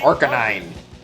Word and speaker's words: Arcanine: so bad or canine that's not how it's pronounced Arcanine Oh God oh god I need a [